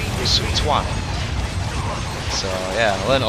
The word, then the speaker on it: Sun Quan: Like, even though that says Simi Yi, is actually pronounced Sumi Yi, and Sun Quan is actually pronounced Sun Tuan.